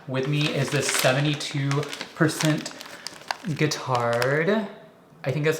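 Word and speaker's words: Guittard: me is this 72% guitard I think that's how you say it kind of like guitar um but with an RD or a d at the end this is 72% but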